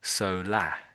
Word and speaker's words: solar: It's almost as if it ends just with an A. You almost ignore the R. Solah.